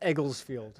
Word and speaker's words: Egglesfield: It Egglesfield. Nick, you like my shot? Yeah. Cool. Like a field of Eggles. It's a thing. All right, we're ready? Oh, we're ready. Yeah. All right. Finally. Egglesfield.